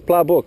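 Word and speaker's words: ปลาบึก: galac catching me cog how how do you say pla book uh it's pla book right mekong and thai playbook so the thai people call this pla book this fish is over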